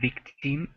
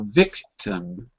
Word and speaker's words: victim: the way Bob victim careful it's not victi but it's an up cuz it's an unstressed syllable so victim like that victim it Kim not in but um victim victim that's right and the reason it's earth is because t IM is not stressed when you have an